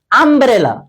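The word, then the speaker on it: umbrella: আর ইউ এর উচ্চারণ হলে বসবে এখানে ইউ উচ্চারণ করতে আম্রেলা তুমি কিন্তু বলতে না ইউেলা তুমি বলতে কি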